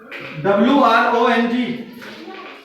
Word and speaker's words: wrong: will call it right w-r-o-n-g W is before W is before R so w will be silent and will solve it